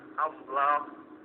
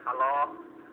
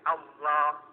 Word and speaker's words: Allah: Mengucapkannya saja harus ditebalkan. Allah, tidak boleh Allah atau Allah, tidak boleh, tapi Allah, tebalkan cara pengucapannya.